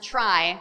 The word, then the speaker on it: trie: used for retrieval although usually it's pronounced try to distinguish it from TR EE tree so I'll say try